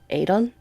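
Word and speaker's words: Aodhan: actually how it's pronounced yes Aon like crayon what that's crazy some people some people do opt to pronounce with the D so Adon okay which vindictus opted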